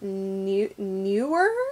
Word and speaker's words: Newer: But in the meantime, I've got this, I believe the brand is Newer, is how you pronounce it, N-E-W-E-R.